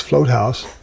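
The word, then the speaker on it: Vloothuis: last name is not spelled the way it's pronounced. It's Float House.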